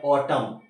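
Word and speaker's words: autumn: एन क्या पढ़ा आपने ऑटम एन की आवाज साइलेंट हो गई ऑटम पढ़ा जाता है ऑटम नहीं पढ़ते ऑटम पढ़ते है अब ये 10 पर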